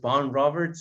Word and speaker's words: Vaughan Roberts: pero gracias a Dios lo encontré en YouTube diciendo, mi nombre es Von Roberts, entonces, pues así lo voy a, así lo vamos a nombrar, Von Roberts.